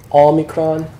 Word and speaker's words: Omicron: If you say not in the British accent. Not. Yeah. Not. Ah. Not. It's Omicron.